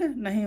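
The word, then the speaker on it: knee: आई और जे साधारणतया साइलेंट नहीं होते ये, ठीक है, लगभग जगह इसका उच्चारण होता ही है, पर कुछ स्पेशल रूल है इसके, मैं आगे बताऊंगा, ठीक है।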